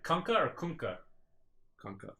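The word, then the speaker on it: Kunkka: all right kka or kunka kka it's kka even though I don't say it it's kunka you know how I know because I ask kunka himself how don't pronounce his name well who plays that hero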